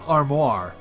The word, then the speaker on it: armoire: But, you know, you can actually have an armoire. Which, although it's pronounced slightly differently and spelled slightly differently, a lot of people kind of just still pronounce it armor.